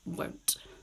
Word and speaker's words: won't: Will not becomes won't. Okay, listen to me when I say this. Won't. I still have the T sound.